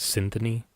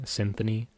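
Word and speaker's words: Cynthoni: hell and back is Symphony is spelled C Y N T H O N I. Symphony. Uh, it's a play on word of uh symphony and the word oni as well.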